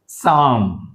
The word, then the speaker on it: psalm: Maximum P మరియు S బిగినింగ్లో వస్తే P అనేది సైలెంట్ అవుతుంది, రైట్. Psalm, psalm.